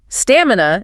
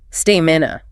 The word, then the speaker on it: stamina: Stamina is another common trap. Learners often stress the middle saying stamina. The stress is definitively on the first syllable. Stamina.